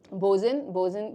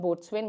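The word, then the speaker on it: boatswain: जो है बोजिन और बोजिन प्रोनाउंसिएशन होती है एक्चुअली बोट्सवेन। जनरली लोग सब बोट्सवेन बोलते हैं, बट बोजिन प्रोनाउंसिएशन है।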